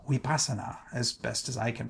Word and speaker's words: Vipassana: going to be teaching vasana which in the ancient language is pronounced weasa as best as I can pronounce it the V is more of a w sound U that language is